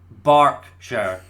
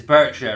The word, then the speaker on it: Berkshire: so first of all explain to me how that is bark sure like dogs bark right yeah it's Berkshire right anyway so we thought